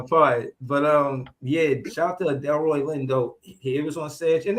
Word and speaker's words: Delroy Lindo: They was Lindo Roy.